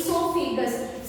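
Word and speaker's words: oesophagus: The other name for your food pipe is esophagus. See here your O is silent letter.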